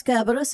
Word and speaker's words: Kerberos: Does Kerberos have multiple pronunciations, or have I been saying it wrong? I thought the C made an S sound. Yes, like Cerberus.